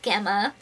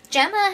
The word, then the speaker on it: Gemma: daniel gemma which i found out i was pronouncing gemma's name wrong it's really gemma i guess not gamma so if i slip up and call her